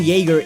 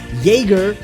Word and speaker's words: Jaeger: words in their language jaeger which is spelled with a j but pronounced with a y would translate the same onto the japanese language so when writing aaron jaeger a translator would see